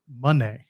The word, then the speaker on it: Moné: And then he proceeds to explain, the way it's been explained to me is that it's pronounced Moné.